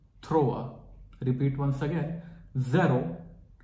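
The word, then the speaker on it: zéro: let's start the class जीरो इज जरो नॉट जीरो जरो अ the throw रेते आपरे मुआ रिपीट आफ्टर मी जरो अ the throw repeat once again जरो अ द थ्रो नाउ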